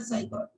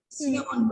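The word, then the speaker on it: scion: देखो एक होता है स्टॉक होता है बेटा, एक होता है साइकोन, ठीक है, हम्म। सियोन बोलते हैं इसको, स्टॉक और सियोन। तो सी उसमें साइलेंट होगा, ठीक है।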